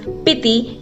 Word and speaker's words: Spiti: Spiti Valley, pronounced as Piti in Bodhi language, is a cold desert mountain valley located high in the Himalayas in the northern Indian state of HP.